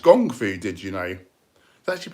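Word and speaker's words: kung fu: the crane kick haha it's actually pronounced gongfu did you know that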